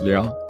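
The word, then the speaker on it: 流: feelings and actions now the third character pronounced Leo in Chinese and Liu in Korean translates to flow or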